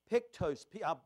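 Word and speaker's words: ptochos: The word poor here is pictos. I'll spell it for you.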